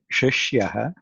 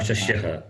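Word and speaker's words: शिष्यः: Shishyaha. Shishyaha. Okay. Shishyaha. Shishyaha, not shashyaha. She. It is she.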